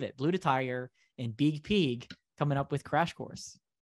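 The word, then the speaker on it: Biig Piig: peak and the reason i say it like that is b-i-i-g-p-i-i-g now i'm sure it's pronounced big pig but i like it as big pig these two out of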